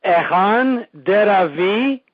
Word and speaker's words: Echan Deravy: to start off okay the name is usually pronounced Ean daav V oh okay and uh